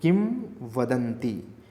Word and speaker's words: किंवदंती: किंवदंती, किंवदंती, म मत प्रोनाउंसिएट करो, किंवदंती, ठीक है।